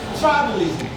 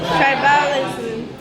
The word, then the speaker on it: tribalism: How do we mispronounce that word? Tribalism. Now, that is placing the stress on the second syllable, right? Yes. That's going to be wrong. Why? Because the sound that follows the B, okay, it's a short sound, and it's going to be a weak sound.